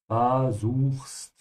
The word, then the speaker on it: versuchst: And remember to pronounce the V like an F, ja? Versuchst.